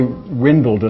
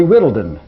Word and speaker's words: Whittledon: That is not Windledon or whatever you said. It's Whittledon. Okay, Whittledon. Whittledon. You mispronounced it.